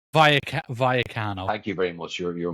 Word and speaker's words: Rayo Vallecano: Rayo Vallecano, am I pronouncing it properly? No, I'm not. Vallecano.